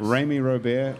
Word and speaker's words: Remy Robert: Rami Robert is Chef here, Life. whose name rhymes with Amy Snowbear, I see on.